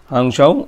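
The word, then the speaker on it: Hangzhou: Games of 2022 ইন হাংজৌ। এটা হাংশাও উচ্চারণটা একটু অন্যরকম হবে।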